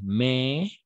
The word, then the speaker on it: mais: N'était pas la plus belle, mais elle était très sympa. D'accord? Sympa. Elle était très sympa. On va prononcer mais, d'accord? Mais. Parce que la combinaison A et I est E, d'accord?